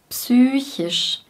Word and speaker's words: psychisch: Psychisch. Wir sagen nicht wie im Englischen psych oder psychological, wir artikulieren das P wirklich.